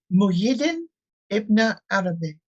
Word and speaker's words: Muhyiddin Ibn Arabi: It's Muhyiddin Ibn Arabi.